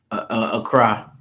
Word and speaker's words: Accra: Acra. That's how you Well, that's how they pronounce it.